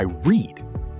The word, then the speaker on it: read: Today I read. Yesterday I read like the color red.